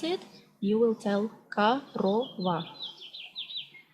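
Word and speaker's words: корова: You see, it's written like korova, but when you pronounce it, you will tell korova. And the stress goes to the second O, korova.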